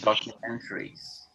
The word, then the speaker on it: documentaries: Pronunciation of documentaries. Mentary, okay? Mentary. This is the stressed syllable, man.